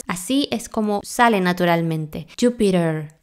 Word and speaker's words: Jupiter: de dos sonidos vocales cuando la t se encuentra entre dos sonidos vocales se pronuncia como r se debilita entonces así es como sale naturalmente Jupiter Jupiter esta e es flojita